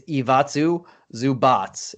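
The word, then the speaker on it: Ivica Zubac: do got to say we both actually butchered it i looked it up after we said it it's iwatsu zubats uh so we're we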